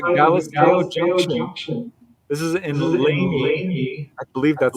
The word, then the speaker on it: Lamy: This is in Laney. I believe that's how you pronounce it. Lamy, New Mexico. Lamy.